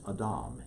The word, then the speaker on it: Adam: The name that he gave us back in chapter 1 of Genesis is Adam, A-D-A-M. We call it Adam in our pronunciation, but Adam.